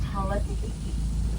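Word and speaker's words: hala kahiki: In Hawaiian, it's pronounced halatiki, which means traveling pineapple.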